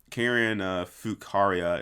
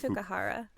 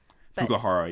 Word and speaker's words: Fukuhara: But yeah, no, Karen Fukaria, is that say her name right? I think it's Fukuhara. Fukuhara, yes.